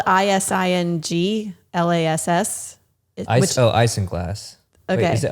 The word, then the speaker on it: isinglass: It's spelled ISINGLASS.